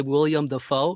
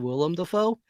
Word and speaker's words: Willem Dafoe: syllable count right like when I hear people say William the foe instead of Willem Dafoe right you just add